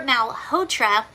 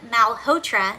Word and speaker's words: Malhotra: uh Dr Mal hoer I cannot say this name it's spelled a l h o t r a it's the o t r a that's throwing me off uh Dr Malhotra says the Maha believes